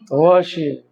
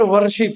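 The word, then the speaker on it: worship: Ramzan is the month of वशिप। नॉट वरशिप। इट्स वरशिप। Are silent.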